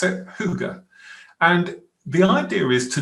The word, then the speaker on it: hygge: That's how you pronounce it, hygge.